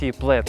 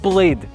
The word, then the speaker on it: Plaid: It's not pronounced like "Plade", nor "Plard", but something in between an and , "Plaid".